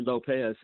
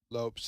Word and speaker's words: Lopes: Well, not well, he pronounced it. Uh, it wasn't actually Lopez. Uh, he's a Hispanic guy. Yeah, it was Lopes. L O P E. Wow. Wow. I am impressed. I'm impressed. Seriously. Yeah. Lopes.